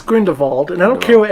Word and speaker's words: Grindelwald: to be really clear his name was Green default and not going to Wald I don't care the German the fact that some people that will be add to pronounced on-screen grinned Imelda it was like nails on chalkboard like no it is grin default and I don't care